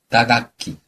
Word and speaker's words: 打楽器: 타악기는 어떻게 발음하죠? 打楽器。